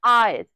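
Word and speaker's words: heir: एन आर, हम आवर में या आर में जो भी प्रोनाउंस करे एच को कभी प्रोनाउंस नहीं करते। एन आयर, ठीक है, जो उत्तराधिकारी होते हैं उनके लिए।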